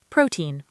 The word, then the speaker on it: protein: First, protein. It's pronounced protein with the stress on the first syllable.